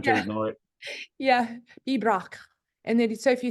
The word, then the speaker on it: pibroch: For instance, there's a type of piping that we do called pibroch. It's just 2 syllables, but you don't pronounce most of them.